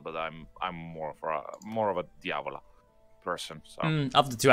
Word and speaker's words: Diavola: How do you pronounce Diavola, that? yes. Diavola, okay.